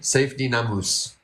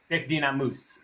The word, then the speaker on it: Saifedean Ammous: This is how he says his name. Saifedean Ammous. Saifedean Ammous.